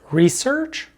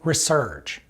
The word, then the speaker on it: research: knowledge number nine research this word can be pronounced as research or research and this is our